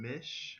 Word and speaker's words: Misch: believe it is the debut studio album Tom Mich I believe that's how you pronounce his last name yes it is his